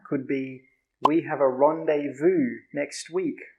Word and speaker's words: rendezvous: How do you pronounce that? It looks like rendezvous, right? Rendezvous. But it's actually pronounced rendezvous.